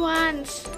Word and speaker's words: ONCE: sama member siapa nih wants wants kan guys sebutannya tulisannya tuh Once Tapi bacanya tuh Once bener nggak sih kalau